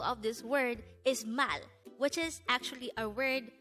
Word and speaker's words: 말: hango word number 237 this is pronounced as just one syllable word pronounce it with me the word mal is the korean term